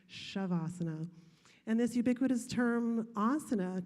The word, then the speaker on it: Shavasana: and some instructors say savasana but final resting pose should not sound like the hissing of a snake it's pronounced shavasana and this ubiquitous term